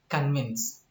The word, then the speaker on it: convince: Here it is a word convince. Convince with inflectional suffix ed. Anyway, where is the stress? The stress is on the second syllable, and here convinced is a disyllabic word.